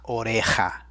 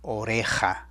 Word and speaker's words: oreja: little tougher to spell listen to that J sound lass or a Haas I'm sorry it's singular don't put an s on the end la oreja la oreja and there it is